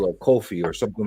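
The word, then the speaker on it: Ko-fi: has a coffee yeah most people pronounce it coffee which makes more sense technically it's Kofi and I'm weird since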